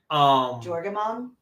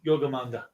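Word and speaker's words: Jörmungandr: or Jorgamon? Yeah, Yogamanda. Oh, is it Yogamond or Jorgamon? Yogamanda. Oh, so it's pronounced with a Y, not a J?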